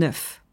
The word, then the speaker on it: œuf: Les œufs, c'est le pluriel d'un œuf. Donc eggs, attention, vous voyez la prononciation est très différente. Un œuf des œufs.